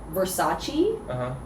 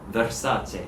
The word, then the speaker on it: Versace: saying like she's like i don't know where americans got this like pronunciation from this is not correct she's like chi chi no not cheese so yeah versace is versace the same